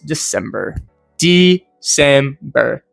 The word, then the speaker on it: December: I believe the correct one would be De-cem-ber.